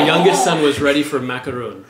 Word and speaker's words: macaron: son was ready for macaroon real French Parisian macaron that's what's on his bucket list it's very different than macron well yeah I guess in how you say it but no they're